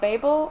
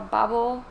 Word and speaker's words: Babel: War Trilogy and also Babel or bubble I guess depends on the country for the pronunciation which came out last